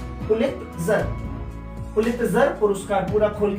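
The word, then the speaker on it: Pulitzer: Pronunciation सही करना है दोस्तों, पुलित्जर, पुलित्जर, पुलित्जर पुरस्कार पूरा खोल के लिख दीजिए और उनके लेटर्स गिन लीजिए, 17 आएंगे।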